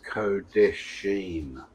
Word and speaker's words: Kodeshim: The way you pronounce it is Kodeshim, like Sheem, not Shim.